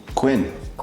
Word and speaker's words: Quinn: But why it's like saying same as a queen, but just the word, its letter is different.